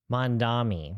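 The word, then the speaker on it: Mamdani: Mandami.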